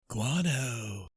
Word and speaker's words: guano: facts it said guano is a great fertilizer guano you you pronounce it right yes because i've watched ace